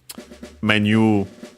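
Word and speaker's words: メニュー: as you might guess, from its pronunciation, menu, also with this longer vowel. Although, unfortunately, the accent may be influenced by English, is actually on the me. So yeah, be careful.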